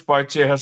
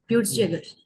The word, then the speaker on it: Peutz-Jeghers: What is Poitzia syndrome? Sir, Peutz-Jeghers. Yeah, it's pronounced that way.